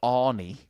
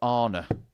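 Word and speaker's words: Arno: name right as well he's not called Anie he's called Arna there's no I in there and he's not got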